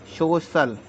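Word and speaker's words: social: सी आई ए एल अगर आई ए आता है आई ए आए सी के बाद तो इसका मतलब स सीटी हो जाता है तो इसको हम पढ़ेंगे शो शल सी के बाद आई ए हो जाए तो इसका अर्थ निकलता है श सोशल एम य एस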